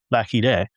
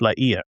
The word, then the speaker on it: La Hire: The French general, Étienne de Vignolles, whom I have been referencing throughout the episodes as La Hire, is actually pronounced La Hire.